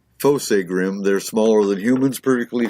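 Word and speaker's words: Fossegrim: Kingdom we hold most high so fossa grim pronounced fossa grim they're smaller than humans perfectly formed except for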